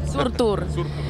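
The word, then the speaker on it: Surtur: out this year surur Rising how do you pronounce that perfect surur and surur is a fire giant who sets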